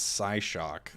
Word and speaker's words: Psyshock: I pronounce the P a bit more.